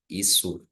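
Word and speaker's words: Ἰησοῦ: Isu is okay. Apostle of Christ Jesus. So I just read I don't say I don't add h sound.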